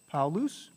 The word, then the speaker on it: Paulus: paul ii because he was johannes paulus right paul loose all right and he would he would write with a j right joanna's right paulus sometimes you'll see an h in here which isn't pronounced like i said um uh